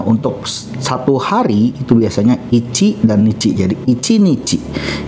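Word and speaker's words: 一: Nah, sedangkan untuk onyominya dibaca ichi atau itsu.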